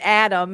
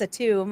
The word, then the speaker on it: Atum: apologize I've been mispronouncing I was calling it Adam and it's a tomb I apologize for that um